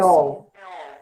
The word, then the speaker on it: Sheol: Como que se pronuncia? Sheol.